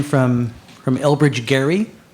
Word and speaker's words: Gerry: name from from elbridge gary i don't know why they call it gerrymandering when it's elbridge gary with a hard g but uh that's what